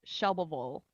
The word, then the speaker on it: Shelbyville: And then like Shelbyville is Shelbyville. She's like, you got to just be lazy with it. It's just Like Shelbyville.